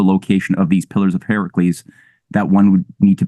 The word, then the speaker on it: Heracles: I'm going to go with the ancient Greek pronunciation, which is Heracles."